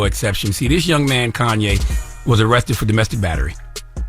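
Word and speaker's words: Khanye: man was 20 years old his name was Kanye but it's spelled k h a n ye e he's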